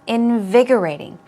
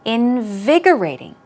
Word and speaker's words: invigorating: at the word invigorating invigorating this is a tricky word to pronounce so let's pay attention to where the stress goes invigorating one more time invigorating good job and it